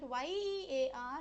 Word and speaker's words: year: e a r but y e a r has to be pronounced as year year okay year so